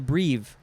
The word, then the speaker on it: breve: Now we have breve, B-R-E-V-E, could also be pronounced brev.